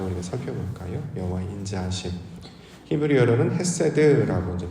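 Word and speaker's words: חסד: 히브리어로는 헤세드라고 이제 발음을 하죠.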